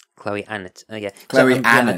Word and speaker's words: Chloe Annett: her own name, so I'm going with how Chloe Annett pronounces her own name. Chloe Annett.